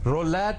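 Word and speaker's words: roulette: explanation देना चाहता हूं रोलेट कहते हैं इसमें टी जो है ना उसका ट करके नहीं प्रोनाउंस करते कुछ दोस्तों ने तराज किया जी रोलेट होता है रोलेट वो टी रोलेट कहने से टी दबता है कहेंगे जरूर लेकिन उसकी सुनाई देना जरूरी नहीं है सर उ की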